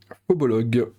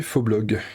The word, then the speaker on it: Phobolog: j'ai cinématique interplanétaire et phobolog que j'ai longtemps prononcé Fblog parce que je savais pas que c'était un haut ça je pense que